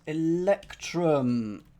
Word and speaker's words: electrum: There you go, is electrum, rhymes with plectrum.